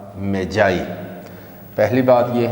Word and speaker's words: Magi: pronounce कर रहे हैं मैगी के तौर पर तो य मैगी नहीं है मैं रिपीट कर रहा हूं यह मजाई है मैग्गी प्रोनंसिएशन नहीं है इसका जो हमें हवाला